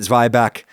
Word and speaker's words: zwieback: I pronounced it "zwy-back" because that is an established United Statesian pronunciation of that word.